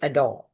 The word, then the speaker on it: adore: As you can see now the pronunciation is adore. R is rolled and not fully pronounced.